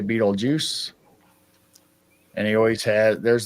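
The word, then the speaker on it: Betelgeuse: think you have a Beetlejuice or Beetle Guys, however you want to pronounce it. I always say Beetlejuice.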